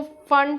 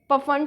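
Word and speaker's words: Pfund: इसके pronunciation, last वाले series की जो प्रोनाउंसिएशन है वो थोड़ी वियर्ड है, उसको फंड सीरीज, पफंड सीरीज इस नामों से बोल सकते हो।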